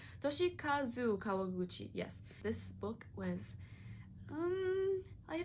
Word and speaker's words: Toshikazu Kawaguchi: Next up, we have Before the Coffee Gets Cold by Toshika Kawaguchi. Oh my god, I don't know how to say his name. Toshikazu Kawaguchi.